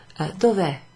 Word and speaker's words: Dov'è: So it would actually be written without the spaces, you know, and pronounced as if it's kind of one word. Che cos'è? È il mio dizionario. Dov'è?